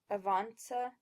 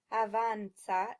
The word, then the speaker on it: avanza: When you look at these words, keep in mind the 7 Italian vowels. That will help you get the correct pronunciations, which are rispondi instead of rispondi, avanza instead of avanza, soccorso instead of soccorso, and speranza instead of speranza.